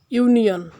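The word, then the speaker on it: union: যেমন আমরা দেখতে পাই ইউনিয়ন, শুরুতে ইউ আছে কিন্তু এটি ইউ এর মতো উচ্চারিত হয়েছে, তাই এখানে এর পূর্বে এন যুক্ত করা হবে না, এ যুক্ত করা হবে।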